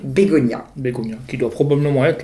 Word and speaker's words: Begoña: Comme la fleur, parce que sur le N, il y a ce fameux tilde, donc la prononciation, cette petite vague qui fait prononcer Bégonia.